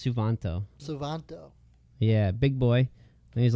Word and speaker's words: Suvanto: You can't pronounce it. It's Suvanto.